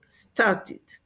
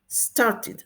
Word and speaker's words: started: Entonces, como termina en T, el sonido de ed o id se pronuncia como id, started, started o started, started.